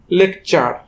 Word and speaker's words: lecture: ঠিক একইভাবে LECTURE, টি হবে চ, ইউ হবে আ, লেকচার।